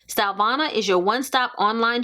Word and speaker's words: Stylevana: can't try out again the name of the company is stylvana that's how i would pronounce it stylvana is your one stop